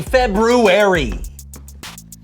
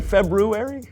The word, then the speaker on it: February: the so-and-so show Happy February did you say February I know there's an R there but most people don't pronounce it oh well most people